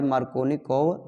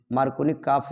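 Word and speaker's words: Markovnikov: लेकिन बच्चों ध्यान दीजिए asymmetric alkene give product bye मार्कोनी-कोव rule. मार्कोनी-काफ भी बोलते हैं, स्पेलिंग ये है बच्चों, ध्यान दीजिए मार्कोनी-कोव। ओके, ऐसा बोल सकते हैं, या मार्कोनी-काफ रूल।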